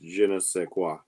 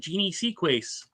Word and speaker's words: je ne sais quoi: It's pronounced je ne sais quoi. That's what I said, Jeannie Sequace.